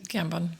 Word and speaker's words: Gambon: eventually murders Baltus Van Tassel, played by Michael Gambon. I think that's how you say his name. Gambon.